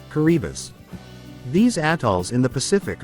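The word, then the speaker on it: Kiribati: answered yes did you know that it is pronounced caribas these atols in the Pacific are so remote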